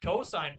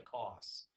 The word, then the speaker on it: cosine: cos I and II sometimes people look at it they think it's silly to say cosine this it costs mister against what's the cost no saint cosine yeah don't don't don't say cost say cosine you sound much more intelligent when you say cosine sometimes people do say